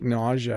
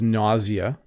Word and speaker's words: nausea: I think nausea has 2 pronunciations. Let's check here. So it seems like the British pronunciation is nausea, and the North American pronunciation is nausea. So there you go.